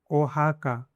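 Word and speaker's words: Oaxaca: ओहाका, ओहाका Mexico में एक city है, उसका नाम है ओहाका, ओके।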